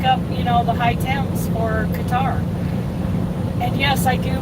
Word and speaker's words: Qatar: I mean, look up, the high temps for Qatar. And yes, I do pronounce it correctly.